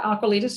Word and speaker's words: Aqualitas: the ceo and founder of i hopefully i'm pronouncing this correctly aquilitis yes yeah aqualitis yeah even better aquilidos so myrna thank you